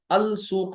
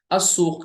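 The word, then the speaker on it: السوق: ध्यान दीजिए जरा सा अल मदरसा कहा तो लाम पढ़ा अब यहां पढ़ रहे अल सूक नहीं कहेंगे अस सूक कहेंगे यानी यहां लाम साइलेंट है तो व्हाट इज द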